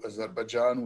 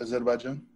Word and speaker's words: Azerbaijan: Originally, I am from Baku, Azerbaijan, which is where I was born.